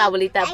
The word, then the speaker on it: Abuelita: said she was like, I hope you know that you say like Abuelita and Abuelito wrong. No, like, it's Abuelito and Abuelita, but. But we say Abuelica, Abuelico, because that's how she pronounces it, and it's not the ordinary Abuelita, Abuelito, Grandma, Grandpa type of crap.